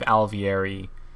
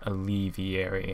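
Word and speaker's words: Alveary: way I pronounced it I believe alvieri is the right way not alleviary and I think it's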